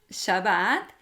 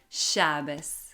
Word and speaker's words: Shabbat: Por ejemplo, el sefaradí llama al séptimo día Shabbat y el ashkenazí más tradicionalista lo pronuncia Shabbos.